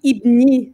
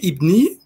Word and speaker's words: Ibni: Juste pour continuer, tu es lauréat du prix Ibni, si je le prononce bien, de l'année 2015.